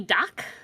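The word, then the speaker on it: Dach: for Montreal we have Kirby doc that's how you would pronounce that yeah uh he has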